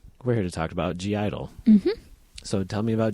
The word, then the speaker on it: (G)I-DLE: of people just say Idol which I think is wrong because um well G Idol themselves have said g Idol and also what's the G for if it's not supposed to be pronounced cuz like the G